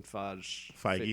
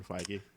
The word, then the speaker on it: Feige: Like, I still can't even say Kevin Feige. Feige. Feige. Feige. Damn it. There you go. It's just two syllables, just- Phi and Gi.